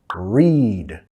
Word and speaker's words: read: Read. To read. Nota acá en presente to read. En pasado y participio pasado, la misma ortografía pero pronunciación diferente, ¿ok? Read, read, read.